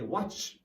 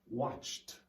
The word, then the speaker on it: watched: sound rested played but here you have the t sound and instead of some students they'll say watch watch it that's not it watched watched so here we